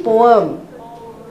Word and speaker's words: poem: why there right uh it's actually poem po poem poem not po not poet poet okay so these are